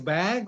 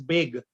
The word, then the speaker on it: bag: Do they say it as bag or do they say it as big?